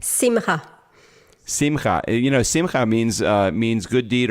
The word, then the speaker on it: Simcha: Yeah, if you add a C onto that, if it's Simcha, it would be pronounced Simcha.